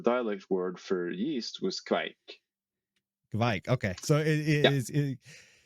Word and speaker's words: kveik: But in some places in Norway, the dialect word for yeast was kveik.